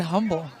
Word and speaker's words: Humble: You don't say the H. I've always said humble.